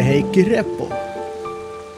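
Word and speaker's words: Heikki Repo: Created by Heikki Reppo. That's, by the way, that's how you pronounce that, Heikki Reppo.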